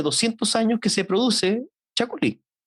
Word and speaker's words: Chacolí: Y efectivamente en Chile hace 200 años que se produce Chacolí. Ahora se escribe distinto, se escribe castellanizado, se escribe tal cual como se lee, Chacolí.